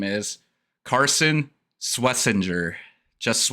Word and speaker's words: Swessinger: Uh, so Dylan, your next name is Carson Swessinger. Just Swissinger. Schwessinger.